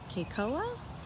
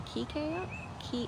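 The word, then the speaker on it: Kekoa: I believe that they are pronouncing his name Keikoa or Keikoa. I need to find out for sure. I think it's probably Keikoa.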